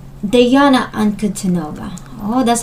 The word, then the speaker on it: Ankudinova: Ankudinova. Diana Ankudinova. Oh, that's how to pronounce her name.